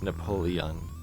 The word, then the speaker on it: Napoleon: to pull the end you know here it's pronounced Napoleon Napoleon Bonaparte 1769 to 1821 aka Napoleon the